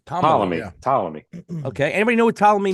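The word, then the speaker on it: Ptolemy: how you say it Tom Tomy the p is silent Tom Tomy Tommy okay anybody know what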